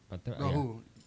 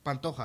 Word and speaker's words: Pantoja: Pantera. No, Alexandra Pantoja. Pantoja. Yeah. That fight's gonna be that's an interesting fight, man. Because I don't know if any of you guys know much about Pantoja, but I've watched that guy fight, man.